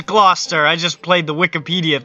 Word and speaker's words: Gloucester: real American English yeah Gloucester that's how you say it wait hold up Gloucester Gloucester it is Gloucester I just played the